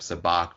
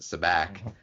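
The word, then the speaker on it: Sabacc: And then they flip it around too later on the pronunciation of Sabak versus Sabak. And Han I think says it's Sabak, which would be the same type of A that is in Han.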